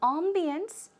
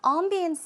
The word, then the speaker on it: ambience: It's closer to the French pronunciation, but closer to the American pronunciation.